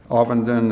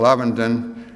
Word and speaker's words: Ovenden: and he said, well, some people call me Ovenden and some people Ovenden.